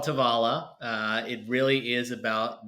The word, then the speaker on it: Tovala: co-founder and CEO of tovola I screwed it up again there you go see tavala uh an amazing company